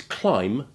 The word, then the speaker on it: climb: words which look as though they should be pronounced the same but aren't is climb and limb which you will remember from the